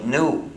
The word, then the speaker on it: GNU: del idioma inglés porque según el diccionario la g es muda y se pronuncia nu como nuevo entonces cada vez que